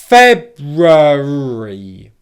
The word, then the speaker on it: February: Okay, let me say the word really slowly now with all 4 syllables, and then I'll explain why in English speaking, in real English speaking, it sounds like 3 syllables. So 4 syllables. February, February, February, February, February. Pay attention to the stress on the first syllable and the fact that all the syllables that come afterwards are unstressed. February, February, February, February.